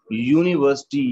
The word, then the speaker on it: university: not the letter but the sound of this word is university here university here your sound is there which is consonant that's why we need